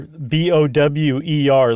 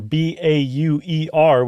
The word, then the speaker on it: Bauer: right and left Bower b-o-w-e-r like they're in the act of bowing but that's actually a bastardization of the German Bower b-a-u-e-r which means farmer in German like Jack Bauer yeah so it's really